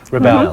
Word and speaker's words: ReBelle: So, I do pronounce the business right. ReBelle. ReBelle.